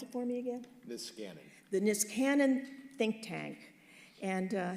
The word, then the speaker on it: Niskanen: Pronounce it for me again? Niskanen.